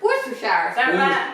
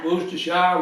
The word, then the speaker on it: Worcestershire: have our favorite jelly sauce everybody loves to pronounce this word Worcestershire Worcestershire Worcestershire kind of easy guys just get used to